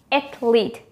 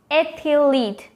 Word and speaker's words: athlete: carefully athlete or athlete the correct one is actually just with two syllables athlete not ethyleat no it's wrong yes